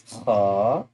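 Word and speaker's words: خ: brother name from the brothers letters, that's called Kha, and Kha has a dot on the top. So we will do this one, and this one is Kha, Kha, Kha.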